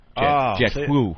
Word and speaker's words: whew: W-H-E-W, because it rhymes with blue, jet blue. Jet-whoo.